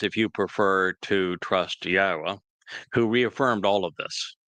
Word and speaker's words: Yahweh: Yahweh is the proper pronunciation of the name of our Elohah God, as directed by his Torah teaching regarding his Haya existence and our Shalom restoration.